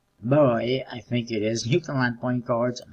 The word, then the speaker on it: Newfoundland: Which is, it's Newfoundland, not Newfoundland. Or Newfoundland. Whatever you want to pronounce it, but, it's a Canadian province, in case you're not familiar with it.